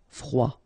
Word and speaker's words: froid: final D not pronounced. Froid.